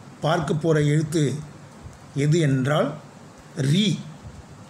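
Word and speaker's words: ऋ: சில பேர் அது வந்து ரூ என்று உச்சரிப்பார்கள். பட் அதை நம்ம ரீ என்று சொல்வது தான் சரியாக இருக்கும்.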